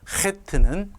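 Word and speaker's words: חית: 그 대신 여러분이 반드시 알고 계셔야 되는 것은 이 이름이 헷다. 발음이 이런 발음이 난다는 것을 알고 계시면 좋겠습니다.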